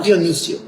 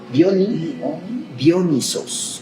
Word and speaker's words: Dionisos: No Dionisio. Dionisos. Acento en la primera O. Acento ahí. Dionisos. N-I-S-O-S. Dionisos.